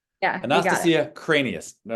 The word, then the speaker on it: Kranias: And Anastasia, let me know if I'm pronouncing your last name correctly, by the way. Is it Kranias? Cranias. Cranias. Kranias. Yeah, you got it. Anastasia Kranias.